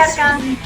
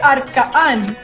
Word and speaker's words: Arka'n: Okay, so I should help me pronounce it because I know it's A-R-K apostrophe. That means something. Yes. A-N, It's Arka'n. right? Yes. I would say Arka'n, but I don't know.